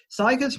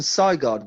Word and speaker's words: Sigurd: I also want to say that I think you're pronouncing Sigurd weird. It's Sigurd. Sigurd. Like Sigurdsson, like the popular surname.